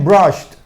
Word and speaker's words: brushed: Brush, ese sonido también es sordo, ¿ok? Brush, cuando le agrega la ed, brushed, ¿ok? Brushed, terminado en T.